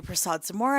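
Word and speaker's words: Persaud-Zamora: For the record, my name is Emily Prasad Samura, and that's spelled P E R S A U D-NE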